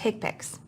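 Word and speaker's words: HCPCS: numeric or alpha numeric hips Healthcare common procedure coding system pronounced hipic this is the main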